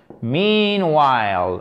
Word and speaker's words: meanwhile: meanwhile qui est… Alors, je force un peu sur l'accent tonique pour vous retenir bien qu'il est sur la première syllabe ici et c'est un i long. Meanwhile, ok? Le H ici ne se prononce pas, j'ai envie de dire, évidemment.